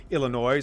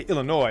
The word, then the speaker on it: Illinois: i know to pronounce i don't say illinois i say illinois okay i know how